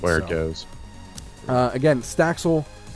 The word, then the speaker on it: Staxel: Again, Staxel by Pluckit, I believe is how you pronounce it. It is not Sextol or whatever the fuck you called it.